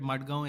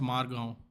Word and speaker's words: Margao: That's why you get Madgaon Express as a Bollywood movie.